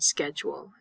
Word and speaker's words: schedule: for you to remember when you see the ch in school and schedule we say it like a k in American English school and schedule these are the two